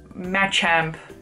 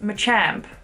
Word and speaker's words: Machamp: just giving an example match amp is a thing well apparently it's pronounced Machamp well I don't know